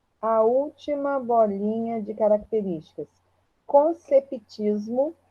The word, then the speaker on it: conceptismo: Conceptismo, o P é mudo, tá? Conceptismo.